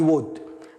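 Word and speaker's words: would: ساذهب كنت ساشتري اي وود ركز ان الكود والود هنا لا ينطق كنت عندنا ايضا الهاب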